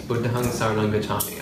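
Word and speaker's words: Buddhaṃ saraṇaṃ gacchāmi: Oh, that's how with the dot is pronounced. Buddham Saranam Gacchami. Gacchami means I go. So I go to Buddham Saranam. I go to the Buddha refuge. That is literally what that means. Buddham Saranam Gacchami.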